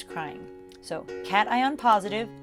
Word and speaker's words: cation: in an ion a cation has a positive charge it's not pronounced cation it's cat ion i drew a little